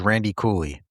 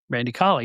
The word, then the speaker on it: Randy Colley: Original Smash was Randy Cooley. Randy Colley, yes. Very good. Oh, yeah, Randy Cooley. Not Mel Cooley, no. I mispronounced his name, but he was Moondog Rex.